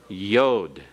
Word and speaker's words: yod: in taut and then the tenth letter is yod the smallest letter of the Hebrew alphabet with a Y sound as in the beginning of yes okay let's pronounce these